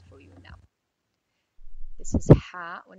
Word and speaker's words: ح: It comes out from the back of our throat.